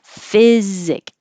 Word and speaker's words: physic: say that in this p h p h is just an f sound the y is your vowel really so you don't really need anything else physic physic it could be this